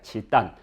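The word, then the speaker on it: 契丹: 한자 발음 중국 발음이 중국 발음은 지단이 되겠습니다 치단 어이 발음은 시대에 따라서 지역에 따르기 때문에 거란을 어 지금의 발음인 집단으로 읽었다고 하는 확실한 근거 없습니다 어떻게 읽었는지 사실 모릅니다 왜냐면 한자는 그 한자의 발음에 대한 표기 발음 기호가 없기 때문에 사실 어떻게 발음하는지 잘 모릅니다 현재 발음하고 있는 것을 기준으로는 치단이라고 합니다 치단에 그러나 이제 어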